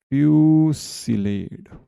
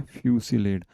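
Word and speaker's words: fusillade: ठीक है, चलिए, इस वर्ड का प्रोनाउंसिएशन याद रखना आपको, क्या बोलते हैं इसे, फ्यूसिलेड। क्या बोलते हैं, फ्यूसिलेड। अच्छा हम तो लेड बोलते हैं, और वो जो अमेरिकन होता है वो क्या बोलते हैं, लार्ड।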